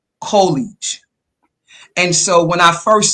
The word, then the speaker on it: UCOLLEIGE: Some people may pronounce it, but the U is pronounced Y-O-U, UCOLLEIGE.